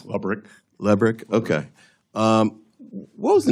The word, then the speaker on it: Lebrick: Am I pronouncing his name correctly? I believe it's Lebrick.